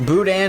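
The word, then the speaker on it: Boudin: your feet to measure how long it is pronounced Budan it's like dirty rice and sausage ah I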